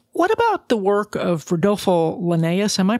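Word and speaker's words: Rodolfo Llinás: What about the work of Rodolfo Linnaeus? Am I pronouncing his name right? Rodolfo Linnaeus, yes.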